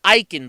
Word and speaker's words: Eiken: their list iechyd that's aik en and it's pronounced eicken by the way as they said multiple times